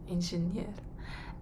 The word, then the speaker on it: инженер: in russia similar but we say in engineer engineer engineer emphasis on the last year engineer composer in